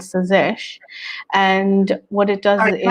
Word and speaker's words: Tsazesh: Sazesh, where the T is silent.